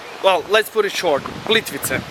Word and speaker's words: Plitvice: Plitvice. Plitvice.